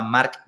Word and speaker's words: Marc: la aceleradora tenemos a Marc Grael y a Marc Domínguez. Entonces, si no hago el esfuerzo de pronunciar la C, suena muy parecido y los confunden.